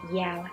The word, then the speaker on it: Giao: welcome to my channel my name is Jiao but pronounced as yo and I'm an artist in today's video we